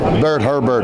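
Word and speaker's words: Bertrand Hébert: co-authored with my dear friend and former correspondent, Bertrand Herbert. Did I pronounce that right? Who? Bert Herbert. Bert Herbert, yeah.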